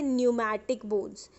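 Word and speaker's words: pneumatic: को कहा जाता है न्यूमैटिक बोन्स। ये पी जो है वो साइलेंट है, ठीक है।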